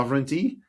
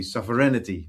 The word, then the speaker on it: sovereignty: before 70% of the world would say so sovereignty uh so sovereign or sovereignty and about 30% would say sovereignity right so primarily in the Netherlands but also